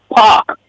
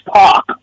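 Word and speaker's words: PAOK: And in Greek P A K that initial is pronounced park. Like a P A W K like. Yes. But it's park.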